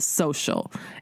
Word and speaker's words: Sewcial: And at the shop where she works part-time, the shop called Three Little Birds, they do a weekly sewing gathering called Social, and it's spelled S-E-W-C-I-A-L.